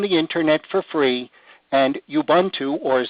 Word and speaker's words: Ubuntu: Linux is an operating system that you can download from the internet for free, and Ubuntu, or as it's properly pronounced, Ubuntu, is a free download, more coming in just a few moments.